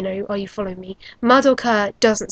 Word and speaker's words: Madoka: I'm saying Madoka because that's the proper pronunciation. In Japanese, you put the stress on the first couple of syllables of a name.